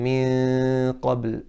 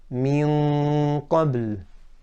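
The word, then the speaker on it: مِن قَبْل: I'm not saying min qabl. That's, for example, that one, the sound is from the mouth, and that's incorrect because I haven't closed the makhraj of the mouth. Correctly pronounced, min qabl, min qabl. Tongues touching the makhraj of qaf, closed off the mouth, and the nose is where the sound comes from.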